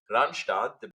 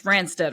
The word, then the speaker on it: Randstad: see the commercials, and in my head it's Randstad, right? But I know actually they're pronounced Randstadt. But for me, Randstad. Randstadt is so wrong. It's Randstad because that's the way I got to know them.